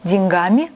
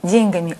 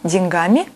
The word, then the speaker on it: деньгами: Литературная норма – деньгам, деньгами, о деньгах. Вариант «деньгам», «деньгами», «о деньгах» в словарях рассматривается как допустимый, однако устаревающий.